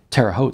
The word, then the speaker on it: Terre Haute: Like Terre Haute sounds like oat with an H in front.